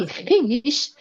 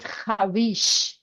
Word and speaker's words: خویش: In these words, vav is written, but it is not read. So here we don't read it khwīsh. Khwīsh. You can suppose, yes, this is a silent vav.